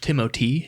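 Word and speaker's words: Timothée: I wasn't you know it's actually pronounced timoty okay whatever but he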